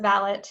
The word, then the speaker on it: valet: became washington's personal manservant as manservant or valet or valet to use the english pronunciation lee was tasked with